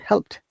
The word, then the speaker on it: helped: It is not double syllable word. It is single syllable, and this ed sounds like t. Helped, help, helped, helped.